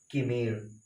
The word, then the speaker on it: chimera: CHIMERA, पता है इसे क्या पढ़ते हैं, किमीरा, जबकि किमीरा इसका प्रोनाउंसिएशन किमीरा नहीं होता सर, इसका प्रोनाउंसिएशन होता है किमीर।